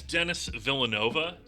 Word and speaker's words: Denis Villeneuve: Yeah, it's Denis Villanova, like the university.